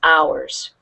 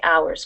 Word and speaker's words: hours: this word here 12 we don't pronounce the h in ours most English words we do pronounce the h but this is of those crazy words where we don't so this is ours can you say ours